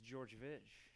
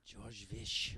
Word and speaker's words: Georgevich: It's Georgevich. Georgevich? Ten letters, 2 syllables, yeah. Georgevich.